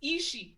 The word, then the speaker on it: Ishii: It's Ishii.